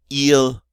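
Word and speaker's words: ils: And then third person plural, they, il, or elle. And they have an S, but don't pronounce the S's.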